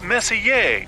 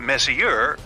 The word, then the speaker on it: Messier: m43 well young lady the m stands for Messier pronounce Messier not Messier as in is your room messier than mine